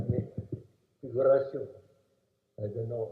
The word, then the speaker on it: Figuracion: The American officers, they cannot pronounce my name. It's Figuracion, different kind of name.